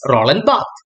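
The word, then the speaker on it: Barthes: and one such scholar is Roland B the pronunciation is Roland B during the 1970s the critics opposed the concept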